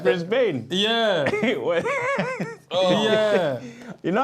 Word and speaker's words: Brisbane: can we say what Brisbane is that a man pronunciation Brisbane Brisbane yeah M A brisban you know God you still did I get that cuz what you saying Brisbane say brisban brisban you can have that you